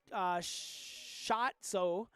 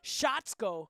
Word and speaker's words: Shotzko: John Shotzo. Excuse me. Wow. Usually I'm not fooled by many pronunciations, but I think the program being in all caps threw me off here. Shotzko.